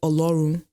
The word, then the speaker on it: Oru: the whole ororon situation he's supposed to be called Oru that's the that's the correct pronunciation of his name anyways and he was his